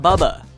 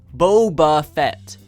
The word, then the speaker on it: Boba: As much as you may argue, it's not Bubba. Say it with me. Boba Fett.